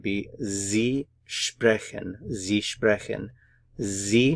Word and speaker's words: Sie: Sie, notice the pronunciation here, Z, Sie sprechen, Sie sprechen.